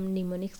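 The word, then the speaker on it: mnemonics: तो इस तरीके इसको हम लोग निमोनिक्स के नाम से जानते हैं। असेंबली कोड रिटेन इन ए निमोनिक्स, ठीक है। निमोनिक्स की स्पेलिंग आप ध्यान दीजिएगा, एम साइलेंट होता है, ठीक है।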